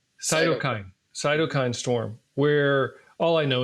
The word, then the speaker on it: cytokine: storm yeah cyto storm how how do you pronounce it uh cytokine cokine cytokine storm where all I know and you can